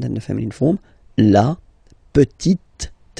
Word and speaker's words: petite: the feminine form, la petite. So I insist because here it's t, okay? So really you need to make the difference between the masculine form petit and then the feminine form petite, okay?